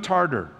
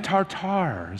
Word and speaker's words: tartar: he called cream of tarter so I'm gonna write a letter and say you were you're pronouncing it incorrectly later I'll email him it's cream of tartar what it is and